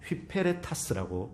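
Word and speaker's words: ὑπηρέτας: 여러분 여기서 에베소 4장 1절에서 일꾼, 그리스도의 일꾼 할 때 일꾼이라는 말이 휘페레타스라는 헬라어입니다. 휘페레타스라고 발음합니다.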